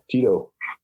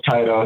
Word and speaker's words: Tyto: i was gonna say you caught me off guard when you said tito i was like oh i've been saying it wrong this whole time so that's what i've been running with but but either way i know like schneider always says taito he doesn't like the name tito which he was a